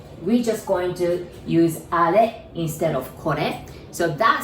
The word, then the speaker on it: あれ: I know it says R, but we pronounce it like あれ, right?